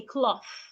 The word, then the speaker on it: cloth: Do not say cloth. Say cloth. There is a H after the T. Put your tongue in between your teeth and say cloth.